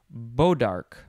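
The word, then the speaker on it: bois d'arc: I think it's pronounced Bodark, something like that.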